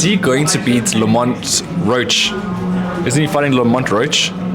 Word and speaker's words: Roach: It's American. It's not Roke. No, man, it's Roach.